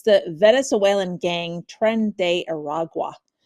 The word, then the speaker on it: Tren de Aragua: weekend, and we were talking beforehand how to pronounce this. It's the Venezuelan gang Tren de Aragua.